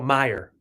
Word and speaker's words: Meyer: Pronunciation is Mayer, just like us. Oh, Meyer.